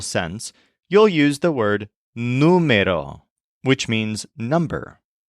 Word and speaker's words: número: you'll use the word numero which means number this is spelled n u m e r o but with an accent mark on the U numo for example there were